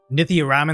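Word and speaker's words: Nithya Raman: Councilwoman Nitthia Ramen was Nithia Ramen. That's how you say her name.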